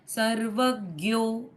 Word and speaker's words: सर्वज्ञ: विमुक्तात्मा सर्वदर्शी मुक्तत्मा सर्वज्य ज्ञान अच्छा ज्ञ बोलेंगे आप ओके यहां पे सर्वज्ञ ज्ञानमत्तम सर्वज्ञ ज्ञान मुत्तमम